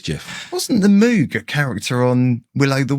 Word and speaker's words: Moog: It's MOOG, invented by a man called Robert Moog. People pronounce it as the Moog. The Moog. Yeah. So I spent ages finding an interview with Robert Moog where he says his own name, so I could play it to people.